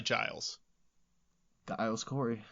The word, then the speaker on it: Giles: a little more about guile's corey because this dude had a nut sack on him like nobody's business so you're sticking with the hard g on guiles because it's probably giles the ios corey it's